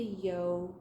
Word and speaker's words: Yo: project planner that chris it's as the yo flies rhymes with crow yeah yes i always